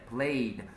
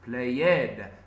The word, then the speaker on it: played: and this is played many Brazilians pronounces play ed but it's not it's played okay in my version